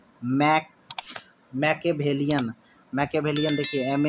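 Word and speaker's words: Machiavellian: बाद क्या है मैक मैके वेलियन मैके वेलियन देखिए एम ए सी एच आई माइके ए एम एी एच मचिया मचिया को मैकिया बोलेगे और वेलियन ए आल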